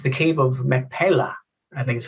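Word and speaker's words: Machpelah: insights and mystery, and it's the Cave of Macpalla, I think is how you pronounce it. Please correct me as you get into it, John. Right, yeah, your pronunciation was close enough, Michael. Cave of Macpalla.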